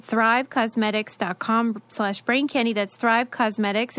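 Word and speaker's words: Causemetics: brain candy that's thrive cosmetics it's spelled like you know because c-a-u-s-e-m-e-t-i-c-s dot com slash brain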